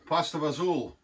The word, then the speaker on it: fagioli: as being an italian so i don't know why americans you know we always pasta for zul pastor vazul you know like they can't pronounce they can't pronounce it properly i don't know but